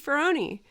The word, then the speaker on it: Ferroni: And one of your questions, which was not a question, was your name rhymes with beefaroni.